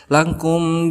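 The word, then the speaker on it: لَكُمْ: Lakum di sini juga dihukumi sebagai idhar syafawi karena ada mim sukun bertemu dengan salah satu huruf idhar syafawi yaitu dal.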